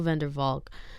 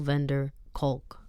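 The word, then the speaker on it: van der Kolk: physical violence Dr bezel vandervalk one of the world's foremost Experts of trauma on trauma sorry I think I said his name wrong Dr bezel vender culk sorry one of the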